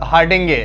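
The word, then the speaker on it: Hardinge: इसके बाद आता है हार्डिंगे, हेरनी हार्डिंगे, इसको हार्डिंग भी बोलते हैं, हार्डिंगे भी बोलते हैं, जो भी आप प्रोनाउंस करना चाहते हैं।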